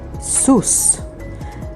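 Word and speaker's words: סוס: The next word is the word sus. Sus means a horse, and it is spelled with samech, vav, samech, sus.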